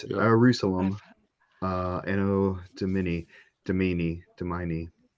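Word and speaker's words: Ierusalem: Uh we're just going to call it Jerusalem. I know it's spelled with an I. It's Jerusalem.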